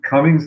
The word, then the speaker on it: Comings: So uh like uh like Josh said, my name is Cummings. Last name is spelled C O M I N G-S. It's the opposite of going. That's how we remember it.